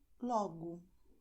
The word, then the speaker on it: logo: And the letter O at the end of the word is pronounced as U. So you're going to say obrigado como logo.